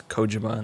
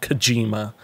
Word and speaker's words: Kojima: i pronounce it wrong i know it's kojima not kojima but listen i'm a westerner